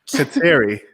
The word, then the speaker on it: Kateri: It's Terry with a K at the front. Kateri.